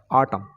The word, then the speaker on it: autumn: उस तरह से एक और एग्जाम्पल ले लेते हैं, ऑटम, AUTUMN, तो यहाँ पर एन साइलेंट रहता है, तो इसको ऑटम पढ़ते हैं, ऑटम।